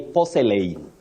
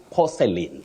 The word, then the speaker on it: porcelain: Many people say porcelain, but we don't say porcelain, it's porcelain. The A in that word is silent.